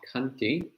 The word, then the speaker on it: khanti: parame for today in poly is is called kanti that's spelled k-h-a-n-t and while it's commonly translated as